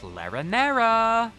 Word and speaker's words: Larinara: We we did a lot of stuff with larinara, which rhymes with marinara because it's got nara in it, which just makes me think of more Italian food and how hungry I am.